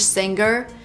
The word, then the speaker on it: singer: we don't say singer the G is not pronounced with a hard G sound singer is not correct we say singer make a nasal sound with the NG singer and then link to the r sound singer singer she's a